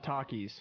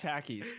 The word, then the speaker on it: Takis: now on it is now treason if you pronounce it takis it is pronounced takis yes yes no it is not hannah montana